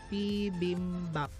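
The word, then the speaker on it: 비빔밥: So ang ating first syllable is P, second syllable is bim, third syllable is bap, P bim bap.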